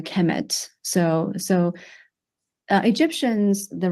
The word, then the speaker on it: Kemet: uh it will be the noun will be pronounced a Kemet so so uh Egyptians